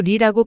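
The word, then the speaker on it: 梨: 다른 사람에게 선물하지 않는다 때는 중국어로 리라고 발음하는데 의는 떠날 이자의 발음과 같아서 분리되거나 이별한다는 의미가 강하기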